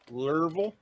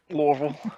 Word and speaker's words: Lorville: Lurvel? Lorville. That's how you say it. Lorville.